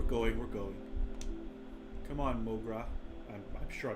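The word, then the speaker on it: mo ghrá: we're going come on mogra i'm sure i mispronounced that irish for my love one dialect would pronounce it as magra okay i wasn't too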